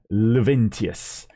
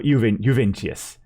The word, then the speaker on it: Juventius: We've got Numerius Luventius, that is, or Juventius. That'll be the I, and as far as I know, in many of these Latin languages, the I there could also be pronounced kind of like a J.